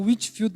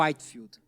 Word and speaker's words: Whitefield: Galera fala o Witfield, mas eu acho que é o Whitefield, porque o o white aqui é igual se escreve branco.